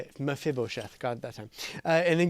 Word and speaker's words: Mephibosheth: mephibosheth and David that's how you say it mephibosheth God that time and then go into your